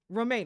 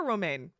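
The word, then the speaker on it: Romijn: How do you How do you pronounce that? Give me a second. Roma. Rebecca Roma.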